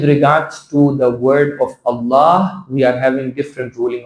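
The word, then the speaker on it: الله: When you're opening your mouth in an O shape, it will become the heavy pronunciation.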